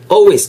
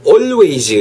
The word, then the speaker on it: always: always, 절대로 always 혹은 always 하지 마세요. 발음 자체도 어렵지 않게 되거나 always, always L 사운드 묵음이라는 거 My hair always 이렇게